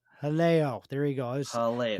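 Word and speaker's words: Jaleo: there and uh what's the restaurant I always mispronounce jalo Helo there you go it's just right on the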